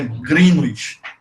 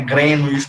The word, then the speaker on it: Greenwich: A pronúncia certa é Greenwich. Não é Greenwich, não é Greenwich. Dando uma maior tonicidade à primeira parte da palavra, né?